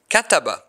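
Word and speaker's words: كَتَبَ: top or under it, like the verb kataba. This word has three syllables. Ka, ta, ba.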